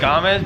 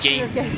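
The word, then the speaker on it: Gamez: It's like Truelove Gomez, but I pronounce it Games.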